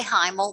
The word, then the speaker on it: Hymel: y m e l we can say heimle we pronounce it email but hymel's just great okay so this is